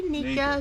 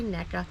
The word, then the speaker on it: NECA: 7inch action figure from is it pronounced this NECA or na I say NAA some people say NECA each to his own from 2013 and this